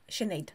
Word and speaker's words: Sinéad: the Sinéad, thank you, It's this is my the middle name.